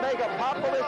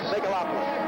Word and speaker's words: megalopolis: Megalopolis or Megapopolis? How do you say it, Dixie Babe? How would you say Megalopolis. Megalopolis.